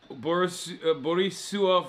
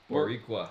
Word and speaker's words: Boricua: Borisua for life. Am I saying it wrong? Oh. How do you say it? Boricua.